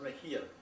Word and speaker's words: Mejia: But in some areas of Spain, the X sounds like an English H. The written was Mexia with X, but pronounced Mejia.